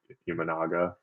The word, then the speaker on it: Imanaga: I guess you don't necessarily know what you're getting from, and forgive me if I pronounce his name wrong, but Imanaga.